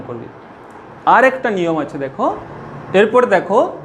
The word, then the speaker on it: দুঃখ: তাহলে দেখো যে বর্ণটার আগে আছে অর্থাৎ খ এর আগে আছে, খটা দেখো দুবার উচ্চারিত হচ্ছে।